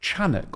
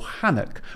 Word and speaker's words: Enoch: I understand it's more properly pronounced Chanuk or Hanuk, with the same Hebrew root as Chanukah or Hanukkah, the feast of dedication.